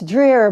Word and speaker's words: Dreher: I apologize or neither um it's uh it's Dreer but it's pronounced many different ways in many different languages